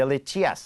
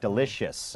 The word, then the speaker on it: delicious: เป็น delicious นะ ฮะ หลาย คน ก็ เห็น i o u s หรือ เห็น i a ก็ จะ คิด ว่า ต้อง เป็น สระเอีย นะ ครับ แต่ ว่า จริง ๆ มัน เป็น แค่ เอ่อ นะ ฮะ แบบ ว่า